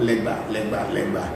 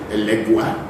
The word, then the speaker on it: Legba: But then in the Ewe concept is always called legba, which in the Spanish-speaking people say legua, because the GB, as in Ewe and Yoruba, which is ba, cannot be pronounced by everybody, so they call it gua.